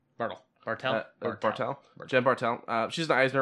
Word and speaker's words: Bartel: Bartle? Bartle. Bartel? Bartel.